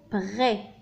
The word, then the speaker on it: prêt: donc الكلمة هي prêt. prêt. le S هنا c'est une lettre muette لا ينطق.